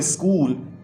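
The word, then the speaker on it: school: Pink में किया है, और आप देखें कि इसको बोलते हुए स्कूल एच जो है वो साइलेंट हो जाता है, हम नहीं बोलते।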